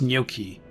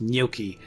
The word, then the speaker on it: gnocchi: know I'm just I think it's gnocchi it's not like you don't you don't put too many syllables into the beginning it's gnocchi okay no you pronounce